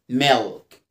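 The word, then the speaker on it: milk: اه حرف الاي حرف ال لما يجي قبله اي او اي او او او يو او اي سواء شورت فاولز او لونج فاولز بنطقها كده ال، فبقول ميلك ميلك ميلك ميلك ميلك.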